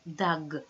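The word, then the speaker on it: דג: Right, dag.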